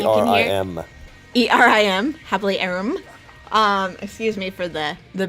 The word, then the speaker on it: HappiLeeErin: today was the happy we headed yeah I'm happily Aaron I have a youtube channel it's under the same name it's spelled h AP PIL ee e rin I'm sorry I am er I am happily Aaron excuse me for the the baby whining in